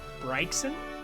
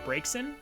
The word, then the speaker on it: Braxen: Braxen. No, Bryson. Bray. Oh, like breaks in.